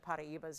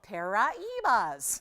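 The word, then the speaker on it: Paraíbas: all of a sudden somebody was making fun of the proper pronunciation of paraibas yesterday on tv and i'm going well but that's the proper pronunciation they are not called para evas they're just not but anyway i guess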